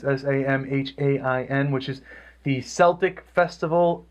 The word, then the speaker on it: Samhain: It's Samhain, which is the Celtic Festival of the Dead, and starts the Celtic New Year.